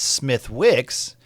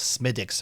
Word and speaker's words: Smithwick's: in the Irish dialect, they don't really say the th. They pronounce it like a Like a D. So, it's Smithwick's or Smith or just Smithwick's.